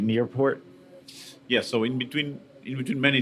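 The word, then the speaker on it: Niepoort: Am I pronouncing it right? Nearport.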